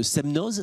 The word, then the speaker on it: Semnoz: ribat vous diriger l'antenne de ses meneuses c'est ça on le prononce comme ça côté d'annecy l'étape du semnoz l'étape de ses meneuses exactement très bien c'est